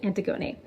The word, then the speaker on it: Antigone: Thank you to the wonderful person who phonetically spelled it out for me. So I know it was Antigone.